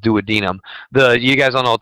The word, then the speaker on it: duodenum: The The pancreas and the duodenum of the small intestine, not duodenum. I hate when people say duodenum. It's pronounced duodenum.